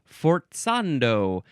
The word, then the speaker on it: forzando: It is an abbreviation for forzando or possibly yes pronounced forzando because it's our next word.